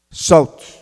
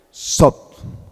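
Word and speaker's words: Thoth: Y aquí llegamos al Dios Sot. Se escribe como Tot, se escribe Tot, pero se pronuncia Sot.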